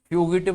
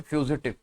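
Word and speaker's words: fugitive: फ्यूगिटिव नहीं बोल देना इसे, फ्यूजिटिव, फ्यूजिटिव।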